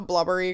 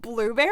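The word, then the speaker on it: Blubrry: up going with is we call it blubbery because it's spelled like b l u b r r y but it is actually I think blueberry um I always no I thought it was blubbery well it's spelled blubbery it's spelled it's called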